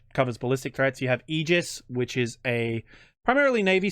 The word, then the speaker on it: Aegis: love it and I know I always say Aegis and I always screw that up and I piss off Navy guys so it's just now vernacular for me but you're right it is egis that's how it's pronounced yep egis uh In